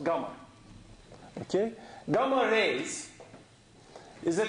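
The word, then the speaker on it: γ: this symbol is the Greek letter G it's pronounced gamma okay gamma rays is a kind of electromagnetic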